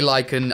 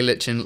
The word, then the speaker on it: lichen: You say Lichen, I say Lichen. Let's call the whole thing Moss. And so he says, long story short, I think either pronunciation is valid.